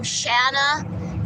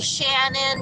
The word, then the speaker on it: Shana: school and meeting people nobody could remember my name Shana they would call me Shannon shaa Shana all these different names so my nickname was